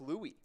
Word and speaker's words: Louis: what's gonna call it a name for the French King and it is pronounced Louie ah so it is